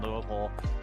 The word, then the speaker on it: Louisville: very good pronunciation if you pronounce anything other than Louisville uh you're not from yeah yeah Louisville is definitely definitely one of those oh also St Louis